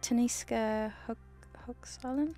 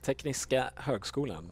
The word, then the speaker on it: Tekniska Högskolan: It's like Taniska Högskolan. Let me just find it so I can tell you. And then I can pronounce it really. Tekniska Högskolan? Let me show you. How good? Okay. Tekniska Högskolan. Yeah. Right, Nurgle? Tekniska Högskolan. Can you pronounce right? it correctly for us? Tekniska Högskolan. Yeah, so we said it completely wrong.